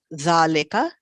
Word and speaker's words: ذلك: Zalika is pronounced zalika, but it is written without alif.